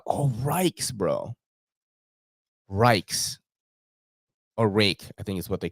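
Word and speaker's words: Ruike: you can still buy rake knives it is pronounced rake uh r-u-i-k-e with 14c 28n for like magic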